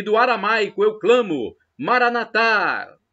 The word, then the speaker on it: Maranatha: do aramaico Eu Clamo Maranatha como dizemos nós católicos com a tônica na última sílaba ou Maranata como dizem os protestantes